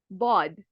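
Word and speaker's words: ض: And then you have bod. Again, you can hear the bod, very heavy.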